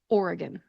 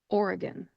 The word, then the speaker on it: Oregon: correct that pronunciation because it's actually Oregon. Oregon. The E in the middle of the word is a schwa type vowel sound because it is the unemphasized syllable. So when you pronounce that, make sure to take that E and turn it into a schwa sound. When you pronounce it, it therefore becomes Oregon. Oregon.